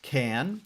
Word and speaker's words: khaen: the instrument the instrument there you see the name is spelled a number of different ways it is pronounced can it is the bamboo